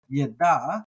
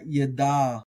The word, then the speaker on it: ידע: I'm doing with Hebrew, I like to pronounce my ayins as gutturals, like guttural stops. So here in Genesis 3:22, we have leda'at. So that da'at there is where we're getting our yada, or we have yada behind that.